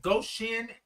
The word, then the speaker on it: Goshen: Ann said, Goshen, Indiana. I did say it right. Goshen. Or is it Goshen? I kind of separated go and shin.